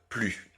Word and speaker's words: plus: vous avez cette négation il faut toujours toujours toujours la prononcer ne plus donc sans prononcer le S final donc pourquoi est-ce que